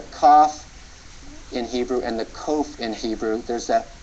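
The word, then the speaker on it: qof: the kof the kof it's um like the K in King like the like the cough we learned earlier but it's a little more back in the throat you can think of there's King where the pronunciation is more forward in your mouth but then you can try to pronounce King slightly further in the back beginning deeper in your throat King very slight difference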